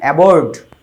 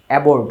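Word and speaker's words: abroad: না দেশে বুঝ হোম এবর্ড এবড উচ্চারণ হবে এবড দেশে এবং বিদেশে আমরা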